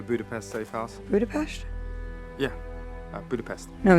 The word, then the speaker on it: Budapest: Yeah, Budapest. No, it's Budapest. Budapest. Budapest. Budapest. Yes, Natasha is using the Hungarian pronunciation, calling back her exchange with Hawkeye in Avengers.